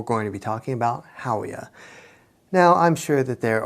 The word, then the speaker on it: Howea: sure that there are other ways to pronounce that haa Hoya Hoya I don't know I'm going to go with Hoya because it just looks like it makes sense uh Hoya is also